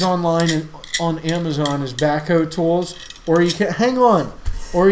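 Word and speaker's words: Bahco: In the tool itself, it actually says Baco, which is spelled B-A-H-C-O. So you can get these online and on Amazon as Baco tools, or you can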